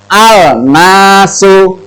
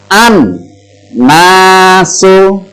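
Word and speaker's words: النَّاسُ: Contoh, yang simpel saja, alif lam ketemu nun, maka membacanya bukan al-nasu, al-nasu, salah. Ya. Alif lam ketemu huruf nun. Jadi membacanya bukan al-nasu, tapi alif lamnya masuk atau lebur ke huruf samsiah. Nah, jadi membaca yang betul adalah an-nasu.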